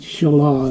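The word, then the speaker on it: Shelah: in my mind but it sounds too much like a woman's name in our culture so I decided Shala is probably the better way to pronounce that name but Judah didn't really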